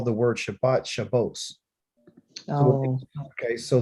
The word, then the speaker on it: Shabbat: We say Shabbat. They say, why's my pen not working? Shabbat. They say Shabbos.